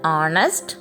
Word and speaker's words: honest: an he is an honest man here H is silent so begins with vowel sound so we use an